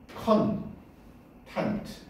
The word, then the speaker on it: content: content. 됐냐? 근데 액센트가 뒤에 있지. content.